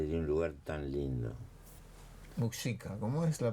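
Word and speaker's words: Muxika: Hay un municipio que se llama Muxica. Muxica, sí, su apellido.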